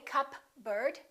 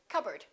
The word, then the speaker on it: cupboard: psychology psychic one more cupboard don't say cup bird or cupboard say cupboard my kitchen cupboard silent s Arkansas Illinois